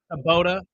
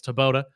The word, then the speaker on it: Tabota: Yes, we'll have Germ uh Tabota. I always want to call him Kabala because obviously that's how it's spelled but it's Tabota.